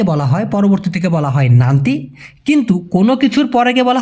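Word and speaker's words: nanti: নান্তি উচ্চারণটা হবে ন আকার ন তয় রশি।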